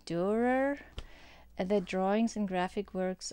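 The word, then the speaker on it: Dürer: And then I found this book about, this is how you pronounce Durer.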